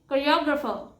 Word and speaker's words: choreographer: And the correct pronunciation is choreographer. It's not choreographer, it's choreographer. The next word is elite.